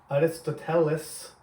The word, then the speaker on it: Aristotle: Koreans will recognize him as Aristoteles, but we say Aristotle because Canadians and Americans don't like to pronounce things properly. So in Greek, it's something like Aristoteles.